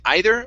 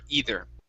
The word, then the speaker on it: either: very good now uh that last word instead of heather it's ee either so or actually there's two ways to pronounce it you can say either or either both ways are are just fine okay so this is